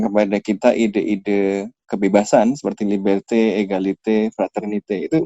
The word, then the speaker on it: liberté: Nah, kita sering dengar revolusi Prancis tadi memperkenalkan kepada kita ide-ide kebebasan seperti liberté, égalité, fraternité. Itu bacanya gimana sih, biar agak benar?